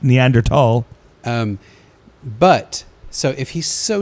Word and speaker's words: Neanderthal: Actually, it's pronounced Neanderthal.